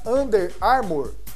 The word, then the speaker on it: Under Armour: o São Paulo e tem uma outra marca under armour é assim que pronuncia e tem um Nozinho para baixo e